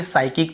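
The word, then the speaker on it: psychic: यहां पर भी हम देखिए साइकिक पढ़ते हैं पी को यहां पर भी नहीं पढ़ते यदि एस के पहले पी हो तो नहीं पढ़ते वैसे निमोनिया वगैरा भी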